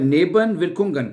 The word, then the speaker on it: Nebenwirkungen: ठीक है, gibt es Nebenwirkungen, Nebenwirkungen, gibt es Nebenwirkungen, क्या इसके साइड इफेक्ट्स हैं? Nebenwirkungen, पहले नेबन पढ़ लें, फिर वियर पढ़ लें, विरकुंगन है, विरकुंगन।